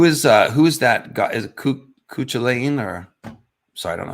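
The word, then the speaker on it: Cú Chulainn: Cuchulainn Cuchulainn Cuchulain okay so the second C is silent.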